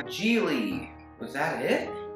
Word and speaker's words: Gigli: Gigli. Gigli. Was that it? Gigli rhymes with really, which rhymes with silly, which rhymes with sh**.